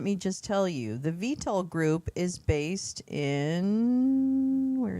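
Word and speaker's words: Vitol: Vital group, VTOL group actually is how you say it and Trafigura were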